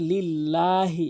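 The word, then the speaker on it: لله: তারপরে লিল্লাহি এখানে লাম অবশ্যই এক আলিফ টেনে পড়বেন রব্বিল আলামিন অধিক হলক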